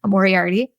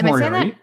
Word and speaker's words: Moriarty: I'm terrible with pronunciation, guys. Moriarty. No, I think it's Moriarty.